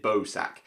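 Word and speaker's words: Bausack: of this one but is it bow sack is that how you pronounce it be aus ACK I'm gonna pronounce it Bozak and this is a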